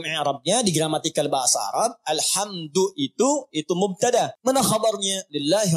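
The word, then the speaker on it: الحمد: Dibacaannya alhamdu, bukan alhamda pakai fathah atau alhamdi pakai kasrah. Ya. Apa bacanya? Du. Alhamdu. Pakai dhammah. Jadi kalau dibaca dalam salat, jangan baca menggunakan fathah alhamda atau kasrah alhamdi. Tidak. Baca menggunakan dhammah.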